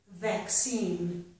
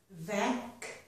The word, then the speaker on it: vaccine: And my last example is vaccine. Vaccine.